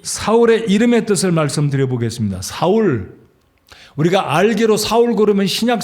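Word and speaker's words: שָׁאוּל: 변했다서 작은 자라 그러는데 그 헬라 발음인 거 같고요 히브리어 발음으로 사울은 샤알 왔는데이 말은 구했다 구해서 얻었다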